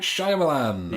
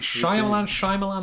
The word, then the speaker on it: Shyamalan: Night Shyamalan. Yeah. Is it Shyamalan? I can never remember. It's Shyamalan, isn't it? But it's spelled Shyamalan.